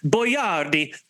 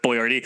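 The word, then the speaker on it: Boiardi: the proper pronunciation is boardi but he thought that as an Italian that people wouldn't be able to pronounce his name in America in the 50s so they went with boy Rd are we going to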